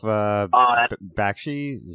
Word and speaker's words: Bakshi: you guys seen cool world Oh horse Ralph Bakshi's that is how you pronounce his name did the animation for that